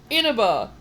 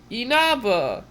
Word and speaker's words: Inaba: It's not Inaba, it's Inaba. It would help if they